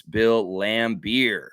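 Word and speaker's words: Bill Laimbeer: here all right yeah bill lambir I'm going to give it to smooth you didn't spell it very well at all it's Bill lamb beer here like you drink and yeah yeah and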